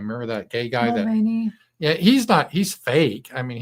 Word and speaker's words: Mulvaney: Mulvaney.